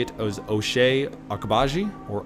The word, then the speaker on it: Ochai Agbaji: I think how you say it is Ochai Agbaji, or Ochai Agbaji.